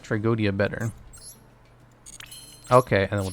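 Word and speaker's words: Tragoedia: I think Tragodia is pronounced like tragedy, just with an extra A. Tragedia? No, it's Tragodia. I like Tragodia better.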